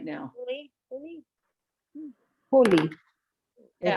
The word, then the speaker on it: Holi: Holy. Holy. Yeah. It's holy. Holy. Happy Holy. Okay. It sounds like holy, like Holy Easter. yeah, I was going to say that. Yeah, holy.